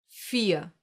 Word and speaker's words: vier: You don't hear the R? Listen again. Vier. Nothing? Exactly. This is one example for the silent R, the one that gets pronounced like a reduced A and is found in words ending in ER.